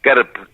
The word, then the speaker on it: Kerb: Las carneadas, la fiesta del Strudel, la fiesta, la Pilsenfest, la fiesta patronal de cada pueblo, que se escribe Kerb con K-E-R-B, que viene a ser fiestas patronales.